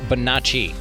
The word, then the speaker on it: Bonacci: let's get to the episode this is bonacci all right ladies and gentlemen a very special episode welcoming to the show it is bonacci i nailed it right yes okay great great